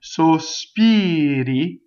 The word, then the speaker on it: sospiri: If it's surrounded by vowels, it flips.